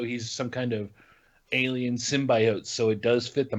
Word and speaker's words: symbiote: The word is pronounced symbiote, and they say it the way Casey just said it in the trailer, and people like lost their mind.